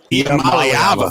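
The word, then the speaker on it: Iamaleava: what how do we gonna say it malava malava five syllables malava n malava malava okay so there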